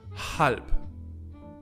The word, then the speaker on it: halb: The H is really pronounced in German if it's at the beginning of a word. Halb, which means half. When it's in the middle